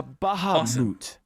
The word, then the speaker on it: Bahamut: forth Neo bahabad uh Bahamut sorry it's pronounced Bahamut no actually I think Cloud's right it's Bahamut yeah see now let me